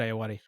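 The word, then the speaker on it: Ayoade: great and richard i nude i love richard ayude i think that's is that how you pronounce it yeah richard ayawati okay richard are you adi i love him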